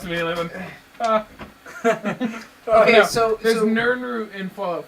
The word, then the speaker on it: Nirnroot: You mean Nirnroot? It's Nirnroot. It's spelled Nirnroot? N-I-R-N root.